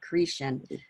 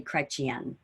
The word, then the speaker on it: Chrétien: But we pronounce it, my husband and I pronounce it Cretan, but it's really Chrétien.